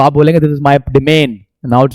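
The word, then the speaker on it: demesne: हैं देखो जो बच्चों ये व एस साइलेंट है इसको पढ़ते हैं डिमन क्या पढ़ते हैं डिमन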